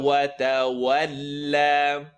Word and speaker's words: وتولى: What's wrong with وتولى? It's not a heavy letter. Lam is light.